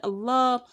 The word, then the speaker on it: Allah: to pronounce it correctly if anything that comes before the word allah has the diacritic father on it you would call it thickly and that is why